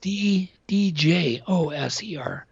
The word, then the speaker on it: Djoser: The schist disc was found by the Djoser step pyramid in 1936. Gotcha. Yep. So it's spelled D-J-O-S-E-R.